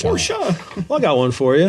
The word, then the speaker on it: Porsche: got to tease me pors or pora pora come on hey it's pora I got one for